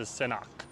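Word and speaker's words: Senakw: Yeah, so Justin saying pronounce it Senak. Yeah, that's how you do it. You see how I had the the Q at the end? With the the KW.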